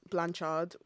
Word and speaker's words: Blanchard: How do you say her name, Sha? We're talking about Tessa Blanchard and her father, Tully Blanchard. I can't say their name. It's Blanchard. Like I'm rejected.